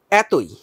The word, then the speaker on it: এতই: এতই শব্দটা আমরা কিভাবে উচ্চারণ করব? এখানেও কি এ হয়ে যাবে? এখানেও এ হয়ে যাবে, তবে এখানে আরেকটা কাজ হয়েছে। এখানে ছিল ত, এখানে ওকার এসেছে, এতই, ত এর সাথে ওকার আমরা উচ্চারণ করছি, এতই, যদিও বানানে কিন্তু ওকার ছিল না, তাহলে এতই, ত এর সাথে ওকার উচ্চারণ করতে হবে।